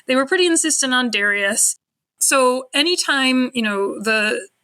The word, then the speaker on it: Darius: challenging than expected because they wanted us to pronounce the names a certain way so you know for instance I've been used to saying daras III MH entire academic career they wanted me to say Darius later on they actually